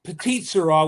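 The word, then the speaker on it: Petite Sirah: Is that how you pronounce it? I'm Irish, so I'm gonna It's Petite Shira, which is a Shira.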